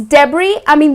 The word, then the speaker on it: debris: So it is debree - though it is spelt with a 's' but its not pronounced as debris it is deb-ree. So it's - that's how it is pronounces -'deb-ree' Got it?